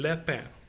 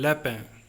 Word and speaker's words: lapin: L, un lapin. Un lapin. First we will spell it. L A P I N. Un lapin.